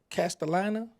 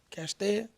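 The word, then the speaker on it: Castalia: Speaking of Memphis now, correct me if I'm pronouncing this wrong. How far is uh uh Castellina? Castellina. Castia. Oh, yeah. Castia.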